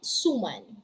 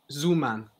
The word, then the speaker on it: suman: Siopao, siomai, Zuman. It's not Zuman. It's Suman.